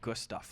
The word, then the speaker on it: Gustav: is riding on this my name is Gustav I usually pronounce it good stuff like good stuff that's this is this